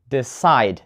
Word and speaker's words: decide: And decide, not decide, decide. The stress is on the second syllable.